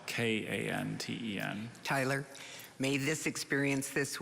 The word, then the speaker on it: kanten: may i have all the information again please kanten is a noun from japanese kanten is any